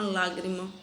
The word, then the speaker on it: lágrima: Digamos aqui que eu tenho lágrima. Lágrima. Então, a minha sílaba tônica é essa. Aqui eu tenho minha última, aqui eu tenho a minha penúltima e ela é a antepenúltima.